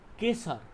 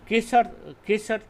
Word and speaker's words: Gesar: So the Gesar, sometimes it is also because the third letter is pronounced like as the first letter in Tibet, there is a rule.